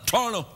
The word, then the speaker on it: Toronto: I pronounce it like locals say Toronto. I call it Torno. Hey, we're in Torno. Do you mean Toronto? No, I don't have time for T's.